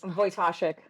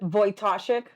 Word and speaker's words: Wojtaszek: I'm going to ask you, how do you pronounce her last name, Liz? Wojtaszek. What is it? Wojtaszek.